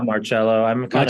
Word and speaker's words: Marcelo: Zach Allen and Harrison Marcelo is that the right way of pronouncing your surname hello Marcello it's kind of easy on him usually the Soft C though Soft C okay firm rock band tempt